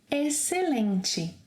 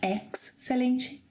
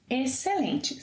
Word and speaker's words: excelente: However, if it's before the sequences CE and CI, the letter X will be silent. Yes, will be silent, as in excelente. It's not excelente, no. Excelente, silent, X.